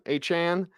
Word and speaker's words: Achane: It was the Achane. I think that's the way. It's like 4chan, Achane. Yeah. Is the way he pronounces it. I say Achane because it sounds great,